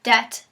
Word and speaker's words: debt: make sense such as the bees in debt and doubt were put in during the 17th century after the words already existed during an English passion for The Classical Languages previously spelled debt and doubt those letters